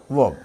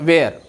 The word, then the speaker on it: were: याद रहे इसका प्रोनाउंसिएशन वर है, नेवर एवर से वेयर, this has टू be pronounced as वर, वर पढ़ना इसको।